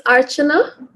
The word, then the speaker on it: Archana: It's Archana. Archana. It's a cha.